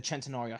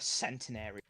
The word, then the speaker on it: Centenario: It's like you calling the Centenario Centenary.